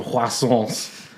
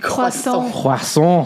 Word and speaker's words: croissant: Choose out a selection of croissants, right? Croissant. The T is silent.